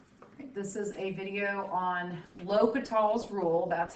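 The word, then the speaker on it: L'Hôpital's: this is a video on lokital's rule that's how it's pronounced l'hopital's um and i actually it can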